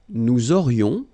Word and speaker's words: nous aurions: Nous aurions, liaison here, this little link. Nous aurions, final S not pronounced.